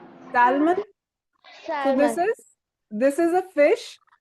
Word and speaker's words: almonds: We usually call it almonds but L is silent. It's almonds.